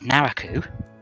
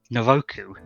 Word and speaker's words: Naraku: a huge argument over whether the main villain's name was Naraku which is how it's written and how it's pronounced in Japanese or naroku what they called him in the dub because the first time